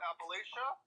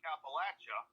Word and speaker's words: Appalachia: There's two ways to say where I'm at. It's either Appalachia or, as we can say it in Kentucky, Appalachia.